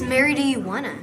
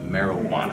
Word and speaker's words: marijuana: What is this Mary do you wanna? Tell me, what's your name, little girl? sir? Well, first it's pronounced marijuana.